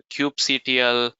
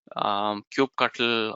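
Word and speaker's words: kubectl: are you can use a cube CTL cube cuttle or however you like to pronounce it CLI tool that's part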